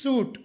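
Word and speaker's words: suit: ಐ ಶಬ್ದ ಸೈಲೆಂಟ್ ಆಗಿರುತ್ತದೆ ಎಸ್ ಯುಐಟಿ ಸೂಟ್ ಇಲ್ಲಿ ಸ್ವೀಟ್ ಎನ್ನಬಾರದು ಅದೇ ತರ ಎಫ್ ಆರ್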